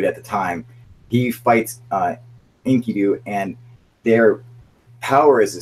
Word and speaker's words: Enkidu: That's it, Enkidu.